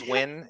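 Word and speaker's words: Nguyen: is younger than Chu how do you say it when just like when wi when win like just win wiin but it's okay but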